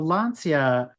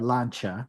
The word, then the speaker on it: Lancia: like the RAC yeah so lania or lancha depending on how you want to pronounce it it all goes